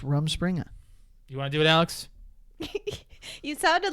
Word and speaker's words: Rumspringa: have an audience I was right it's actually Rumspringa is there is there a thing that you